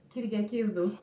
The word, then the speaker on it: Kyriakidou: Well, how do you pronounce it? It's Kyriakidou.